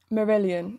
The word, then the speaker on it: Marillion: Right, let me just Google Marillion. Yeah, that is how you pronounce it.